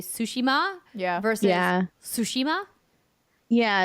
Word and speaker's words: Tsushima: read that they say Tsushima yeah first yeah Tsushima yeah and like typically for the Japanese like the first syllable is the one you accent right mm-hmm yeah I did